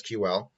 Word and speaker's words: SQL: a look at the sequel language that's SQL or pronounced sequel or you can pronounce it as SQL we're gonna take a